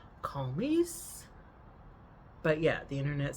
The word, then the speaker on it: Comice: It's Comice, which I would like to pronounce Calmies.